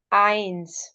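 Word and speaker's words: eins: The first word इज़ please focus on the pronunciation. This इज null. Zero इज null. One इज आइंस वन इज आइंस टू इज़ Swai because Z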